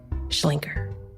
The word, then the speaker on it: Schlenker: If you talk to people in Memphis about Sidney Schlenker, it's very like, Schlenker. You know, it's like this kind of Newman kind of pronunciation.